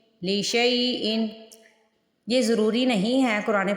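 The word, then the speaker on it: لِشَيْءٍ: جوڑ کیسے کرنے ہیں۔ لام زیر لی، شین یا زبر شئی، لی شئی، حمزہ دو زیر ان، لی شئی ان لی شئی ان۔ یہ ضروری نہیں ہے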